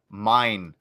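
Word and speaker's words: mein: conf mine mine m-e-i-n when you pronounce german the the vowel and the e-i pairing the the one that comes after the one comes second is the one you pronounce so you would actually pronounce mean uh if it were m-i-e-n but as far as i know that's not a german word uh but it'd be mine mind conf my struggle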